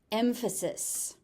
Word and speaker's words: emphasis: Emphasis. emphasis. So the PH is a f sound.